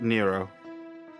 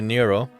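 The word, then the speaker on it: Nrvnqsr: So, Garlic Predict says NRNVQSR is pronounced Nero. How? Just. I can't. Oh, okay, Nero.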